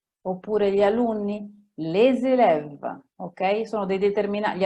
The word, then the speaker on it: les élèves: Oppure i miei zii, mes oncles, oppure gli alunni, les élèves, ok?